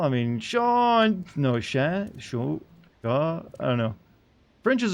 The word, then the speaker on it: chat: Say cat in French chat, you have to pronounce a shushing sound and drop the T sound at the end.